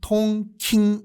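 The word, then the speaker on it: Đông Kinh: 수도와 같이 동경 이었어요 동경의 베트남 발음이 뭐냐면 통 킨 이거든요 그래서 통키 동경 말이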